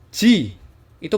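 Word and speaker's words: ぢ: atas C ini bacanya ini tulisannya Dji Tapi bacanya Ji aja ya jadi tanpa D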